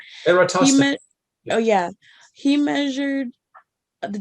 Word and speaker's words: Eratosthenes: Eratosthenes.